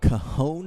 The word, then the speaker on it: Cajon: Yeah, he played at Cajon High School, even though it's spelled like Cajun.